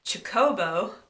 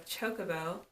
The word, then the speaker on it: chocobo: one of my friends I would always say Jacobo instead of a chocobo um I never I